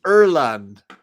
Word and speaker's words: Ireland: have bleeding green and it's in Erland not Ireland Erland that's how they say it in Ireland oh in Ireland they